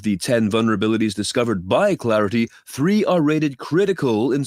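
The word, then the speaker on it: Claroty: could expose devices to remote attacks researchers at Clarity that is CL a r o t y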